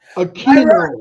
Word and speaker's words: Mayra Aquino: my gosh, Mayra Aquino, Aquino.